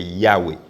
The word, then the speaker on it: Yahweh: ont eu cette révélation que la prononciation, c'est Yahweh.